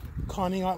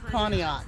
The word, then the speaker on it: Conneaut: from con Lake how do you say it conat Lake conat yeah and where are you from Southern Maryland